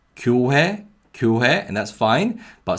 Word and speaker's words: 교회: In the first syllable, we have 기역 with the vowel 요, the Y glide vowel, 요. So it's 교, 교. And in the second syllable, we have 히읗 with the vowel 회. So it's 회, 회, 회. So this is 교회, 교회.